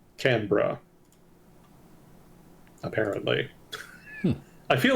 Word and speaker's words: Canberra: It is apparently pronounced Canberra.